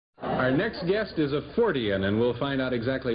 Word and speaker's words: Fortean: Our next guest is a Fortean, and we'll find out exactly what that is from him.